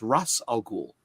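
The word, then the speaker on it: Ra's al Ghul: and then like or like race al Ghul or Ras Al ghoul or you know it's just yeah it's Russ all cool well for potatoes I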